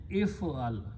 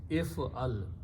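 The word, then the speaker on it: اِفْعَلْ: the middle letter, so because of this fatha, I pronounce e. If do something, if I'm telling a man do something, I'm commanding the person do something, it's if'al.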